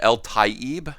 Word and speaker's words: Eltaeb: story here this is the story of gabe el taib i finally got it right in pronunciation thank you gabe uh and leaving taking